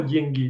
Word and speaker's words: деньги: про деньги, да? Еще раз? О деньгах, про деньги, да? Ага. Деньги on the first syllable.